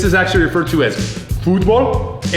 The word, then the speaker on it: fútbol: Spanish-speaking countries, this is actually referred to as futbol, and it's spelled like this.